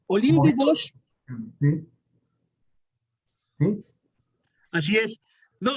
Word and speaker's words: Olympe de Gouges: Sí, se pronuncia en francés exactamente. Olympe de Gouges.